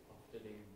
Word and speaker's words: Ofterdingen: Ofterdingen, yeah.